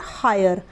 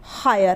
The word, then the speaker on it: hire: उसी तरीके से हायर, HIRE हायर, हायर में भी आई है और आई के